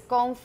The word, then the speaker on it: gongfu: fu as you said the real way to say it in chinese is gongfu or gongfu and now it would